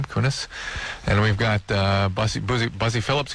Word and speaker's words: Kunis: It's Laura Prepon and Mila Kunis. How does she pronounce her name? Kunis.